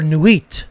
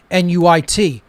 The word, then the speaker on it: Nuit: traditions this represented the egyptian goddess isis or nuit as well n-u-i-t nuit different pronunciations of it but it represents that pure